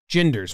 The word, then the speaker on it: Ginder: It was hard to come up with a comp that was a hard G that didn't have a U or an R right after the G. It was all guinea pig or Guinness Book. I guess Gander is right there. Gander.